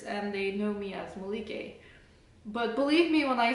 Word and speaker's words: Melike: In fact, if I put an accent over here, you recognize that the accent is on the third syllable, Melike.